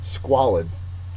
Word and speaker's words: squalid: anonym is lighthearted 16 squalid you can tell from that disgusting picture you may be able to figure out what squalid means it is an adjective first syllable is accented it means filthy wretched